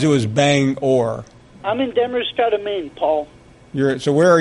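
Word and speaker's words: Damariscotta: I'm in Demerscata, Maine. It took me a long time to learn how to pronounce that. Demerscata, I didn't realize it was Bangor. I'm in Demerscata, Maine, Paul.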